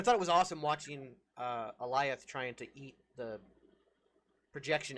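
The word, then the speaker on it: Alioth: Aolith, the cloud. Oh, Eliath. Eliath, thank you. See, I can't even remember how it's said. Eliath. Like Goliath, but just with no G.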